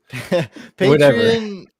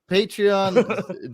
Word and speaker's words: Patreon: Patron. Patreon. Drew pronounced it.